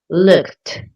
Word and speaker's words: looked: The ed sounds like a t, like really strong, looked.